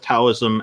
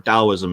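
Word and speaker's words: Taoism: because those uh both taism and or or dosm is the correct pronunciation with the D instead of a t but most people say with a t and Buddhism are both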